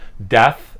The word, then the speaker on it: Deth: i just talk about how it's actually pronounced death and uh doesn't matter